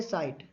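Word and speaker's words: sight: अब यहाँ देखो ये साइट, साइट में ये जी एच साइलेंट है, जब भी कभी जी एच से पहले कोई वोवल्स आ जाए, ए, ई, आई, ओ या यू, तो ये जी एच साइलेंट हो जाता है, तो जी एच साइलेंट होकर ये साइट, ये बन गया साइट, साइट कहा गया इसको।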